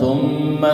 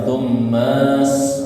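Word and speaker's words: ثُمَّ: Khalaqahu faqaddarah, thumma gunna, thumma sabila alif lam samsia, jadi langsung ke huruf sin ya, jangan panjang-panjang thummanya ya. Kadang masih ada panjang thummas, nah gitu ya, tapi thummas sabila yassara, sabila ma tabi'i yassara.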